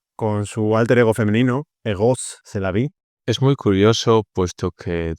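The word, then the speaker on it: Rrose Sélavy: más y sería con 2 Rs Rose Selavi pronunciado en francés Egos Selavi, que es que la vida es erotismo.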